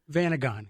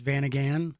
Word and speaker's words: Vanagon: Vanagon. Vanagon. Yeah, and Okay. I think there's a couple different ways that people say it. If you go out west, it's Vanagan. Yep.